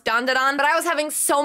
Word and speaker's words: Dan Da Dan: was not confident that dondon is how you pronounce dondon but I was having so much fun saying